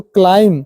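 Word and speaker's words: climb: आ लीम यहां पर एमबी आया है तो क्लाइम क्लाइम पढ़े क्लाइम नहीं पढ़ेंगे उसको हम यहां पर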